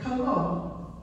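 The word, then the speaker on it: κἀγώ: They would say it as one word, kago.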